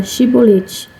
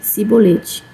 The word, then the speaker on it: chibolete: dissesse não disseram-lhe então diz agora chibolete e ele disse sibolete pois ele não conseguia formular uma pronúncia correta então eles eles o